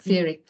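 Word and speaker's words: Fiere: say it Jackie I did look that up Fury meaning friend companion um somebody who goes alongside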